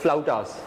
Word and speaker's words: flautas: वो ऐसे है जैसे FLAUTAS, तो मतलब द प्रोनाउंसिएशन इज फ्लाउटास।